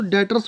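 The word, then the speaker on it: debtors: डेटर्स डॉक्टर लिखते हैं डीबीटी जो आर लेकिन भी साइलेंट होती तो डेटर्स बोला जाता है ठीक है तो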